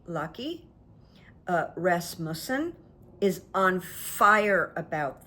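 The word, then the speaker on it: Løkke: And by the way, Denmark's foreign minister, and I might not say it properly, L-O-K-K-E, like maybe Lucky, Rasmussen, is on fire about this.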